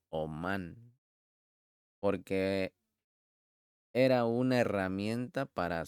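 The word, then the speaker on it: אמון: No lo pronuncies como un niño de pecho, que en hebreo es Amón, sino más bien como un artesano, que en hebreo es Omán, porque era una herramienta para su oficio.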